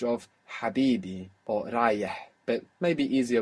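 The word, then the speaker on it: حبيبي: So that position where your throat is in, Habibi, is actually the same position, more or less, that you will make the Ain from. So you could even practice Habibi, Abibi, even though that isn't the word, still, sure. Just to practice the position of your throat.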